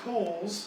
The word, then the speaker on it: Cowles: I actually have family down here, so there is a big family debate on how we pronounce our last name. So I said Cowles.